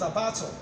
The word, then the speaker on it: abattoir: The word is abattoir, abattoir. You can say it after me. If you go to a dictionary, you see the sound. Abattoir is not abattoir. It's abattoir. Abattoir is the right pronunciation.